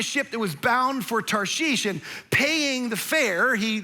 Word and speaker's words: Tarshish: this is first offense, it's not Tarsus. Like that's how we grew up learning. It's not even Tars-ish, it's Tarshish is how you say this.